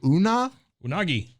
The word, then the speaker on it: Oonagh: is, and I'm going to butcher this because it's spelled Oonagh. So Unagi.